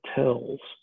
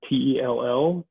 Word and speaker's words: tell: hills that are called tells now in um in arabic it's uh t-e-l-l tell uh the the jordanians actually pronounce it tell but spell it t-a-l-l uh and then in